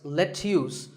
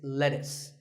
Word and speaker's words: lettuce: I know the spelling looks like it's let's use but it's not it's lettuce and since we're talking